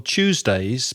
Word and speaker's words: Tuesday: days of the week like a train like a CH sound choo choo Tuesday Tuesday and put your tongue